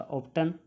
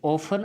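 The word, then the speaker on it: often: ऑप्टन है दोस्तों आपका, ऑप्टन जिसे ऑफन आप बोलते हैं, प्रोनाउंसिएशन आप जिसका ऑफन करते हैं वो आपका ऑप्टन है। ऑप्टन भी आप लोग ऑप्टन ही बोलते हैं, ऑफन होगा।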